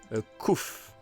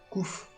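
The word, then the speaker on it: Cuffe: Comment? Couf. Couf. Couf. Au Cuf. Comment ça s'écrit? C-U-2-F-E. Ok.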